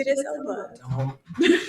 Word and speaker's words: Idris Elba: a lifetime during this movie, James Cordon, Idris Ela is how it's pronounced. Yeah, Idris Elba.